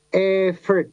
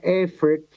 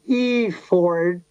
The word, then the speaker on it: effort: E-nya adalah effort. Udah benar tadi Mas Daryl membacanya effort karena saya itu mendengar berulang kali di Indonesia ini orang mengatakan effort. That's wrong. Itu salah. Bukan effort, tapi effort.